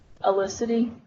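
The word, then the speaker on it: Ellisity: Oh, how do you spell it? Yes. Okay. First name? E-L-L-I-S-I-T-Y. How do you say that? Elicity.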